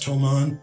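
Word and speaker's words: Thomann: that I got from I think it's pronounced tomon t h o m a Ann fantastic ribon bikes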